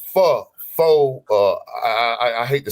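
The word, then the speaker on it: pho: a a a f Fox uh I hate to say it wrong I always say it wrong she say you saying it wrong it ain't F it's fo it's F whatever and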